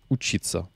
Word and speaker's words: учиться: Et le verbe infinitif, c'est учиться. Учиться, on va vérifier un instant l'accent tonique parce que j'ai un petit doute sur où est-ce qu'il est. Учиться, non, c'est bien учиться, même à l'infinitif.